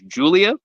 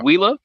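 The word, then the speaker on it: Giulia: this person's name correctly apparently her name is Julia not whea as I thought um I think with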